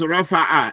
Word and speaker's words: رفع: But the word is rafa'a. If the word has an ayn, don't read it like it's a hamza. Don't say rafa'a. Rafa'a. It's rafa'a. Rafa'a. Pronounce those ayns.